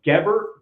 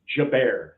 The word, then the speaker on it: Gebert: It's not Gebert, or Gebert. It's Gebert. All right. So say it right, please.